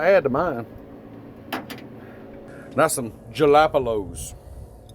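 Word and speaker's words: jalapeño: That's some jalapenos. You know how you say it? Jalapeno? What's it? Oh, okay. It's jalapeno.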